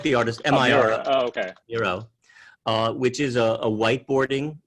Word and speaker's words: Miro: How do you spell that? Like the artist, M-I-R. Oh, okay.